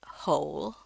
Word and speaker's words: hole: Rabbit hole. Ingat, O something dulu baru ada huruf E-nya. O, hole.